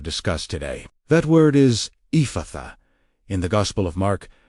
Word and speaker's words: Ephphatha: How to pronounce and use Ephphatha pronunciation. Let the middle syllable open. Do not close it. Breathe it outward.